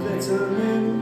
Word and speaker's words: vitamin: Yeah, pain can be killed with aspirin tablets and vitamin pills. But memories of hope and of glorious defeat are a little bit harder to beat. And that is how you pronounce the word vitamin.